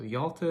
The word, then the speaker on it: Yalta: is the Yalta Conference so Yalta is a bit of an unusual word it's spelled y-a-l-t-a Yalta Conference so the altar conference